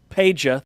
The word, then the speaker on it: Peja: Andrei Stojakovic, who is the son of former Sacramento Kings Pete Stojakovic. Peja, thank you. Did I say Pete? Yeah, you said Pete.